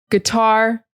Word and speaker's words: guitar: Guitar, it's not guitar, it's just g. The sound is very short. Guitar. The emphasis is on the second syllable.